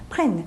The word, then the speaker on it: prenne: 이렇게 물어보시는데 자, 이거는요 그냥 발음의 이유예요. 사실은 펑 비음 나죠? 자, 여기서는 비음 안 나게 해주려고 그러는 거예요. 왜 비음을 안 나게 해주냐면요. EN 때 발음 자체가 어미가 발음이 없기 때문에 발음의 균형을 맞춰주기 위해서 이 앞에 에 발음을 나게 해주기 위해서 N 두 번 써준 거죠. 비음을 없애준 거죠.